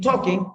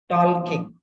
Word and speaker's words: talking: which are not pronounced if you pronounce l in talking it becomes tall King which means a king who is tall a king who is strong tall King t-a-l-k-i-n-g talking